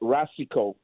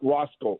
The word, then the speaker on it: Racicot: Anyway, I I just want to say that Rasico, okay, the way he pronounces his name, it's R A C I C O T. It's not Rosco.